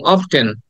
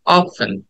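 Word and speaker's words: often: আমি নিজেও করছি যেমন আমরা বলতাম অফটেন হ্যাঁ অফটেন অফটেন না it should be like অফেন অফেন অফেন অফেন right অফেন and next word is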